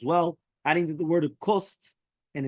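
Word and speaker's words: קוסט: Here it says the Kost with a Samech, right? Not Kosht or HaKosht.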